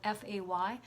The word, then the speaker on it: Fay: of it I'm sorry so your name is spelt FA Y now they want to say Fay as in fairies there's a link there